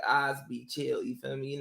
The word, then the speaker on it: Osbe: See, I was gonna say Obasi. See, I'm already trying to say it wrong. Osbe Yeah, Chill. nah, it's Osbe, man. It's Osbe.